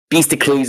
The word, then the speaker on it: Beastocles: Beastocles or Beastacles? Well, whatever you prefer, man. It's okay. Beastocles is a traditional Greek pronunciation, and it sounds Sure.